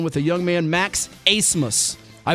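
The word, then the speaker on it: Abmas: the young man max asmus i butchered the name earlier he's the steph curry of the summit league pronounced a-c-e-m-u-s-s but spelled a-b-m-a-s what a game he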